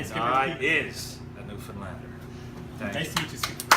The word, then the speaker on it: Newfoundland: Now, a scuff is a dance, and a blue star is also a beer, and it's pronounced Newfoundland. Not Newfoundland or Newfoundland.